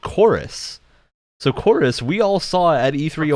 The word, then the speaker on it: Chorus: So Chorus, we all saw at E3 a while ago. Corvus. It's called Chorus. The name is Chorus, but they spell it with a V for some reason in the title, which I don't get.